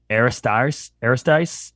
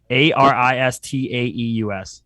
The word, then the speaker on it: Aristaeus: and then I don't know I'm going to mispronounce this possibly, but Aristice Craft Brewing. Looks like Aristotle, but it's Aristaeus.